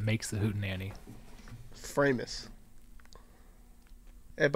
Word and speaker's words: Framus: the hoot and anny framus but I assume it's fromis fromus no you're right I said fromis and Perry looked at me like I have three heads oh okay yeah it's framus I had no idea